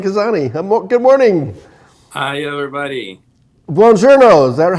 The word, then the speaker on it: Buongiorno: Buongiorno.